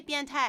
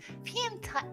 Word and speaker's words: 变态: you can say biantai as in like that's really weird or that's really wild, or you can be like biantai ni, or like you pervert.